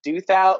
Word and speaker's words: Douthat: Douthat. Yeah. Douthat.